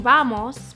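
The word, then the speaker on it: vamos: we have in English even though this word starts with a V it's going to sound really similar to the way that the B is pronounced in Spanish so watch How I say this Vos not Vos it's just a very slight difference this single word means let's go it's kind of like saying bamos but with a little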